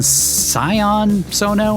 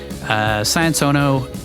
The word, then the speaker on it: Sion Sono: Directed by Japanese cult icon Sion Sono, I think is how you say it. Sion, S-I-O-N. Sion Sono.